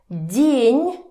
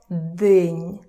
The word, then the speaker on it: день: День, it's not день, д. It's день. День. So the first consonant becomes soft because of this, and N becomes soft because of the soft sign.